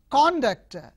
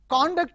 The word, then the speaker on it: conduct: So the stress is on second syllable as a verb.